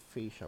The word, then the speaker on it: fascia: I've heard different pronunciations, but I pronounce it fascia board.